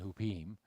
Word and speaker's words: Huppim: The sons of Benjamin, Bela, Becher, Ashbel, Gera, Naaman, Ahi, Rosh, Muppim, Huppim. And it'd probably be pronounced with more of an E, Mupim and Hupim.